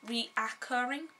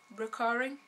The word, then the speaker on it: recurring: You know, I always thought that the word recurring was spelled reoccurring and I always pronounce it like that even though it's recurring.